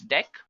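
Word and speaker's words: deque: It is written as dq, but we can pronounce it as dec.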